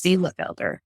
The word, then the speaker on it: Bielefelder: that how you say it Bea Felder yes be Felder you always have these chickens with the hard to pronounce names I like a challenge we got